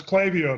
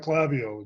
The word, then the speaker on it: Klaviyo: about a product called Klaviyo. So welcome back, Paul. Hey, thanks, Rob. And it's Klaviyo, not Klaviyo. It's an easy mistake to make.